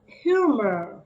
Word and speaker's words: humor: of humor sense of humor it's like you you more humor okay yes it's like silent h all right yeah so you don't have to uh say the h in the beginning now we have smile